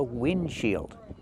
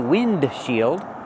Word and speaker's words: windshield: The front glass of your car is called a windshield. We don't pronounce the D. We don't say windshield, we say windshield.